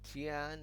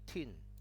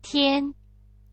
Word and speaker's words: 天: And Tian is Mandarin, and basically myself is the Cantonese. They say Tin, okay?